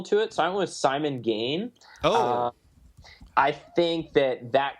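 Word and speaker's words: Simon Gane: and I'm just like Simone G and he's like sorry it's Simon gain I'm just like ah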